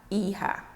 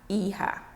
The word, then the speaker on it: hija: Daughter, la hija. Remember, the H is silent in Spanish. The J is pronounced as H.